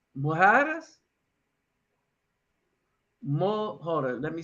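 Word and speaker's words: mojarra: No, mojaras, mojaras, Hold on, let me spell it. Is it MOR? What country was that in? Colombia, mojara. Hmm. I think it's a double RA. So the JAR, it's mojara.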